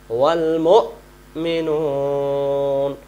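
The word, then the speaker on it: والمؤمنون: আর আমরা যদি বলি ওয়াল মুমিনুন, তখন এই ওয়াও এর উপরে যে হামজাটা, এটা উচ্চারিত হয় না। তাহলে আমরা ওয়া অক্ষরের উচ্চারণটা আদায় ওয়া অক্ষরের উপরে হামজা অক্ষর উচ্চারণ করার জন্য আমরা এইভাবে বলতে হবে ওয়াল মুমিনুন।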